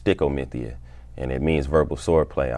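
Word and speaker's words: stichomythia: Well, Sty-ko actually it's a Shakespearean term that's phonetically pronounced stickomithia, and it means verbal swordplay.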